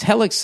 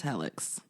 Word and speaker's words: Helix: Yeah, does it rhyme with Felix? I don't think it does. I think it's Helix.